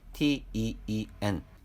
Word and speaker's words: teen: 10자리는 10을 의미하는 단어 알파벳 TEEN, 읽기는 teen 또는 teen이라고 니은 발음이 들리도록 읽어야 합니다.